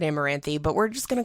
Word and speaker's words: Amaranthe: even pronounce this thing I'm pretty sure they they pronounce it amaranthe but we're just going